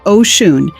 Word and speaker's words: Oshun: Oshun, pronounced Oshun, is the Yoruba Orisha of rivers, fertility, love, pleasure, and feminine power.